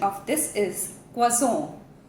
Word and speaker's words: croissant: Some Americans do pronounce it as croissant, but the correct French pronunciation is croissant, croissant. Moving on to the next slide, we have the superfood.